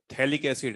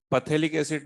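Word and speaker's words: phthalic acid: इस कंपाउंड का नाम जो है वो थैलिक एसिड है, पथेलिक एसिड नहीं है, थैलिक एसिड।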